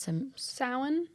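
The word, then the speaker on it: Samhain: celebration of how do you say it s Sin Sin I hate the way GIC I hate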